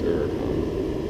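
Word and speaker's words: Huracán: David Patterson told us how to pronounce Huracan. It's Huracan.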